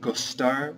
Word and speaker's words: de: on the list is gar which is to like and this is conjugated regularly however every time that you use this you have to put the word d e afterward which is pronounced G so for instance if